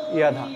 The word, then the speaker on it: যদা: তখন এইটাই উত্তর যে আমাদের সংস্কৃত শব্দের উচ্চারণগুলো বাংলা ব্যাকরণের মতো হয় না, একটু ভিন্ন হয়। 29তীয় জ উচ্চারণ সংস্কৃত শ্লোকে উচ্চারণ হবে ইয়াধা ইয়াধা, 29তীয় জ ইয়র মতো করে উচ্চারণ হবে।